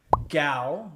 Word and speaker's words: Gao: the city of gal gal is spelled GAO and gal was actually